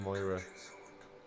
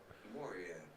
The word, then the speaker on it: Moria: he's not saying Moira he's not saying it how do you say it oh right oh I'm sorry I feel like I've upset people by not saying it properly Moria Moria Moria like Gloria thank you okay there